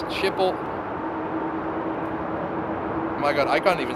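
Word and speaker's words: Schiphol: old Workhorse there and how do you spell it s c h IP that is ship and then h o l shiple and there we go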